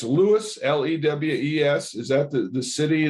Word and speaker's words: Lewes: I want to pronounce it correctly. It's Lewes, Lewes.